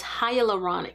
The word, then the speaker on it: hyaluronic: This one has, and I think we all say this wrong, it's hyaluronic is how you say it, acid and peptide complex.